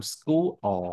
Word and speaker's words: school: No, nó đọc là âm school á. School á nha. Tại vì cái sao cái chữ hai chữ o này thường có xu hướng kéo dài ra. Nó không phải là u kéo dài đâu, không